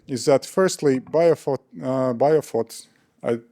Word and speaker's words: BioPhoT: Uh firstly what I want wanted to add uh to this story is that firstly bof uh biofot I pronounce it right?